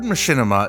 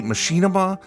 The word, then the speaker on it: machinima: The word machinima is a portmanteau of machine and cinema. Some people prefer to say machinima. I'm using machinima. Both pronunciations are totally fine.